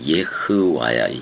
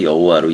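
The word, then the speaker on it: Yahweh: 원래는 여호와의 정확한 발음은 예와야. 예와. 예와. 예아. 이렇다 말이야. 음. 근데 우리는 그냥 여호와로 읽고는 있잖아.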